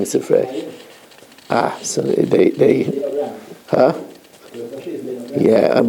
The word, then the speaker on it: Sifrei: All my life, we said Sifri. It says in the Sifri. That's the wrong pronunciation because it refers to the Medrash on Bamidbar and Devarim, and it's Sifrei, and not Sifri.